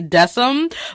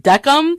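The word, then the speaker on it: Decim: name right because I used to just say desam but his name is Ozzie pronounced duck um and I find that really interesting I see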